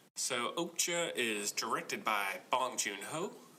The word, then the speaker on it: Okja: You noticed how Okja and Mija, the name of the young girl, in the Korean pronunciations, it was something like Okjaya and Mijaya.